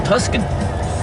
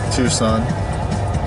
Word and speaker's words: Tucson: got to be black ugly color too from tusin Tucson and it would be tuens even if you or tux even if you pronounce it right the C is before the